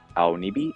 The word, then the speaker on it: Aonibi: Wings, and then the Aonibi right here, down here. Aonibi, a bunch of people have been pronouncing this differently, but if you do pronounce it in Japanese, it's Aonibi, and it means blue, dark gray.